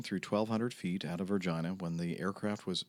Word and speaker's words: Regina: 1200 feet out of Regina when the aircraft was and yes that is the way you pronounce this uh the name of the city uh was 1,200 feet